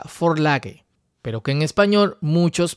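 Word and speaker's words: Vorlage: denominado de esta forma que es una palabra alemana que se pronuncia Ford lage pero que en español muchos pronuncian por lash o burlaje esta palabra significa prototipo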